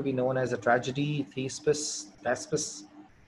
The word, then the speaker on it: Thespis: known as a tragedy, Thespis, or you can pronounce it as Thepis. So there are three different pronunciations prevailing.